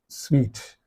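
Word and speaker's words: suite: to how do you pronounce this word you pronounce it like this sweet sweet sweet means a set of rooms honeymoon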